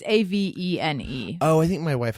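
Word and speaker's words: Avène: It's like, I don't know how to pronounce it, but I like it's Avene or Avene. It's Avene.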